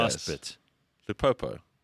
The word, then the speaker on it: Lupopo: Lupopo. Lupopo. Lupopo. Lupopo. Not Limpompo. Not Limpopo. Saint Eloi Lupopo.